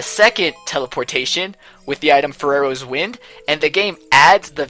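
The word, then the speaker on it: Farore's Wind: Now that is amazing, but what I think is even more amazing is your pronunciation of Ferrero's Wind. It's like you're saying Ferrero Rocher or something, the candy.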